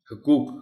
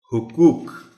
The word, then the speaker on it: حقوق: حقوق بنا لیتے ہیں۔ حقوق غلط ہوگا، درست تلفظ اس لفظ کا ہے حقوق، حق کی جمع۔ طلباء کو مشکل الفاظ